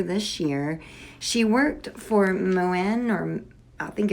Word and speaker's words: Moen: She worked for Moen, or I think it's called Moen. I've actually heard quite a few different pronunciations of it, but it's a skin and a hair care company.